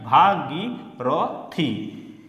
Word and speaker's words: ভাগীরথী: কটি উচ্চারণ হলো চারটি ভা গি র থি, এই চারটি মিলে একসঙ্গে উচ্চারণ করতে হবে, ভাগীরথী। তা ভাঙা ভেঙে ভেঙে কীভাবে উচ্চারণ করলাম, ভয়াকার ভা, গয় দীর্ঘই গি, রতে র, থয় দীর্ঘই থি, ভাগীরথী।